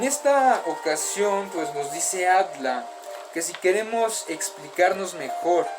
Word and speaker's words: Adler: a alfred at la que se escribe pero se pronuncia at la el conocimiento del hombre